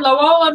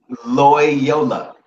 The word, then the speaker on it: Loyola: um you know lo am I saying it right Lola Marymount University and know it say it again Loyola Loyola you got a lot